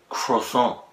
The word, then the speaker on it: croissant: Is croissant. Croissant. The T is silent. It's not croissant. It's croissant.